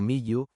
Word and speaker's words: miu: En la pronunciación egiptológica convencional, el nombre suena aproximadamente como miu o miyu, es decir, una secuencia de nasal labial seguida de dos semiconsonantes.